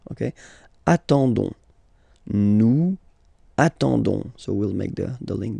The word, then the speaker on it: nous attendons: Okay, you don't pronounce the S, so you get only this on sound. Okay, attendons, nous attendons.